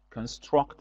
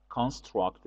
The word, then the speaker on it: construct: again you have to notice the difference uh in pronunciation construct is the verb construct is a noun and the adjective can